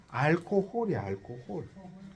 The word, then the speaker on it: alcohol: 그 우리나라 말이 재밌는게 우리가 알코올 알코올 알콜 중독 그러죠 영어를 절대 알코올을 안 해요 앓고 홀이야 앓고 홀 여기 강세가 디워요 엘코홀이에요 제가